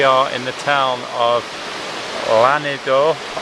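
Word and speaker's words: Llanidloes: in the town of lanidor that's very badly pronounced the locals call it Linny uh as you can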